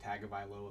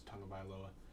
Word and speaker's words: Tagovailoa: Like Tua Tagovailoa, it looks like Tagovailoa, but it's Tagovailoa.